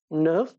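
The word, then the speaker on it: neuf: 9 এটার প্রোনাউন্সিয়েশন হলো নার্ভ।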